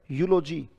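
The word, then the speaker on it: eulogy: अगला वर्ड है यूलोजी, यू लो जी, उच्चारण क्या है?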